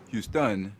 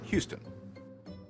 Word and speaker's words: Houston: rule thing that's why French speakers will call the Texan City Houston instead of the English Houston meanwhile English words often